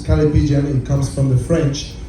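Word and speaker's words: callipygian: Calipigian is the way you pronounce this, coming from the French.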